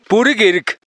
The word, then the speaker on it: Бүрги Эрэг: 보르기 에리게를 몽골 원어민이 발음하면 보르게르크 이렇게 옛날 우리 발음에서 사라진 여린 히읗 소리가 들리는데요.